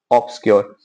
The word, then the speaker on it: obscure: यूआरई याद रख लेना, OBSC लगाना है, ऑब्सक्योर। वीडियो 3-4 बार देख लेना, ऐसे ही याद हो जाएगी स्पेलिंग, OBSCURE, ऑब्सक्योर।